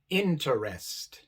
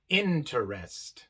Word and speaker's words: interest: tenemos dos letras e la sílaba de medio igual es la sílaba no acentuada y por eso este e se pronuncia a mientras que la última